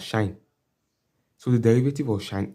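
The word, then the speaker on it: sinh: It's pronounced as shine.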